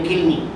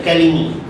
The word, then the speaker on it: kilmi: Bacanya kilmi. Tapi ada orang baca kalimi. Tak apalah. Tapi baca betulnya kilmi.